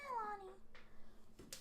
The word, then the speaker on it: Alani: Where's my Alani? That's how you say it. Where's my Alani?